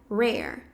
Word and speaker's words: rare: pouco no R, seria rare. Rare, que é raro. Rare. Percebe que o no começo ele é bem sutil, né?